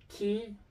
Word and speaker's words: chi: A point in caution is that in Italian, the series of letter C and H is pronounced K when followed by E or A. Ki and ke.